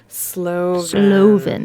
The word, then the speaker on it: Slovin: Slovin.